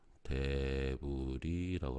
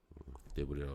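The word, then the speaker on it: debris: 특히 강원도에서 많이 발생되는 현상 중에 하나인데 이 토성류 영어로는 이제 S는 묵음이고요. 대불이라고 합니다. 요건 묵음입니다. 대불이라고 하는데 이런 현상들 많이 발생돼서 뭐 국도 같은데 차량을 통제할 정도로 많이 흘러내리는 경우도 있고요.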